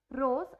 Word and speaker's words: rose: Like example रोज, ROSE, एस जो है वो ओ और ई के बीच में आ रहा है तो हम इसको ज की साउंड देते हैं, रोज।